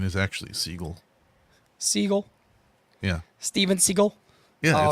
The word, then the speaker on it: Seagal: it sounded fancier so he changed the pronunciation to Seagal but it's Siegel shut up it's dirt